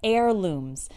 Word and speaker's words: heirloom: of them are heirlooms notice that the first H in this word is silent we don't say heirloom zouk a that's not correct it's heirlooms an heirloom is something